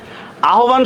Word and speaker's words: আহ্বান: আহ্বান শব্দের উচ্চারণ কি হবে?